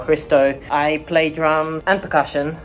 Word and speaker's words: Hristo: excited my name is christo everyone gets my name wrong because they're not used to names that start with hr so hri sdo christo i play drums and